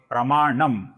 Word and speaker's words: प्रमाणम: अब यहां पर ध्यान से देखिए दोस्तों, सर्वप्रथम नाम है प्रमाणम। इसका जो अनुस्वार है इसका हम अपूर्ण म ऐसा ही उच्चारण करेंगे क्योंकि आगे ओ आया हुआ है।